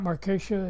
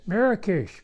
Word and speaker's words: Marrakech: yeah Dakar then Marcus it's not Marcus Marrakech Marrakesh did I spell